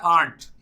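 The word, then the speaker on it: aren't: अगर आपको आरंट pronounce करना है तो इसको आंट प्रोनाउंस, आंट मतलब चाची, वो वाला प्रोनाउंसिएशन करना शुरू करिए आंट।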